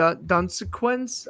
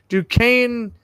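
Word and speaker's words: Duquesne: can never pronounce this school's name either D dunquin I might pronounce that wrong the Dukes yeah I it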